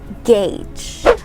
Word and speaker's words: gauge: easy to gauge someone's character so we say gage okay our next word is not pronounced as literature or literature it's not pronounced